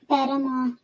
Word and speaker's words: paramour: तो आगे नेक्स्ट हम पैरामा, इसको भी पैरामा का भी प्रोनाउंसिएशन होगी कि लास्ट का जो आर वर्ड है that is going to be silent. Meaning देख लेते हैं।